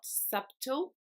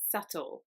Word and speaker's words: subtle: is quite confusing because it's got a B in the middle but this B is not actually pronounced so it's not subtle it's subtle the next word is